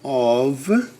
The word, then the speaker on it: of: Out, over, up, in, on, off, ou, of. Pessoal, a pronúncia desse cara aqui é of, como se fosse ovo, tá? Of, esse é off. Dois F's é off. Um F só é of.